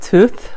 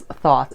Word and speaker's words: Thoth: In Egypt, they call it tooth, like a tooth, like tooth. In the Western world, English, we pronounce it as thought.